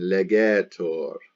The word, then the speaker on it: legetur: Legitur with an I, and the accent is on the E, and then legetur with an E.